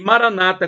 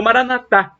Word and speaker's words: Maranatha: proverá ele providenciará e Maranata como dizem os protestantes evangélicos com a tônica na penúltima sílaba ou Maranatha como dizem os católicos com a tônica na última sílaba não importa somos todos